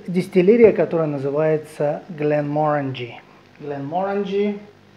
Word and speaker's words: Glenmorangie: которая называется гн mor гн mor внимание ударение надо ставить на последний слог как он гн мо